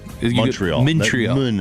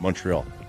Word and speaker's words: Montreal: I think I pronounce it... Montreal is weird. Montreal. That's how you say it. Montreal.